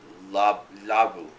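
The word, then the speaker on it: ラブ: to an English-speaking audience, because we pronounce love as love, when a Japanese person would pronounce it labu, and so it's tulaburu, which means trouble, and that's the anime in a nutshell.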